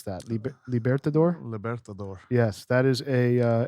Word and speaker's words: Libertador: tonight and the uh libertador how do you pronounce that libertador libertador yes that is a lcdh exclusive double